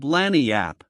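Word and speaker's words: lagniappe: Orleans to get a nice limber expressive handy word lanyap. They pronounce it Lanniap. It is Spanish.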